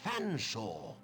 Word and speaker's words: Fanshawe: It's Fanshawe. But it's a talking cat, sir. It speaks English. It's hardly talking Oh, God, English that if is it can't so pronounce pain. one's name. It's perfectly simple. F, silent E, A, silent T, silent H, silent E, silent R, S, silent T, silent O, N.